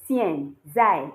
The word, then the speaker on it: 现在: was xian, zai, but many of you were saying xian, zai, and that's because you are saying it like the English alphabet. It's not s, is you pronounce it like you're saying sh, but the sh will not sound like this sh.